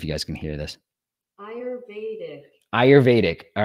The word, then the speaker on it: Ayurvedic: word i even have it watch how to pronounce it let me see if you guys can hear this ayurvedic all right ayurvedic medicine that's what this app